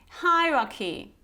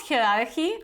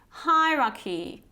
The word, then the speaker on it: hierarchy: say to some extent so what's the proper pronunciation hierarchy hi Rocky so it's not hierarchy or hierarchy okay it's hierarchy hi Rocky I guess this one might be